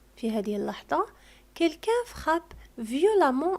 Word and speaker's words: violemment: دائما عندما يكون لدينا l'adverbe ينتهي ب 2m ENT فأ التي قبل ننطقها وكأنها أ. إذن violemment ننطق أ وكأنها أ violemment ككلمة évidemment نفس الشيء.